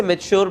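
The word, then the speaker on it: mature: अब ये तो मैंने नेचर पढ़ा, तो मैं इसे क्या पढ़ूंगा, क्या मैं इसे मेचर पढ़ूंगा? अब पढ़ने को मैंने गलत नहीं पढ़ा, बट इसे मेच्योर पढ़ते हैं. सो इसकी right pronunciation is मेच्योर, but just because मुझे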